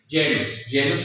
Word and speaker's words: genus: La letra G, cuando va seguida de la E, I, igual misma regla, aplicada para la C, o los diptongos A, E o E, se pronuncia como Y, G. G. Ante E, I es G.